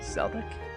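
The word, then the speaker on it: Celdic: just a moment oh it's Celtic okay kind of I guess I just assumed it would be a soft C instead of a hard say I'm sure kind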